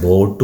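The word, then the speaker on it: bought: ഐ ബോട്ട് ഐ ബോട്ട് ബൈ എന്ന് പറഞ്ഞാൽ വാങ്ങുക ബോട്ട് വാങ്ങി എന്നാണ് ബി ഓ യു ജി എച്ച് ടി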